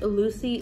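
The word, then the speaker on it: LUOCI: It's the brand, I'm not sure if this is how you pronounce it, but it's spelled L-U-O-C-I lashes. So I believe it's Lucy lashes.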